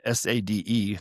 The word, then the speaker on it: Sade: Sade, and you spell it S-A-D-E, and you pronounce it Sade.